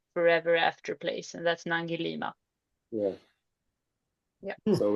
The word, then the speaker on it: Nangilima: Um, Nangilima, yeah. Nangalima. Mm. Did I say it right? Nangilima. Mm. Yes, it's Nangilima.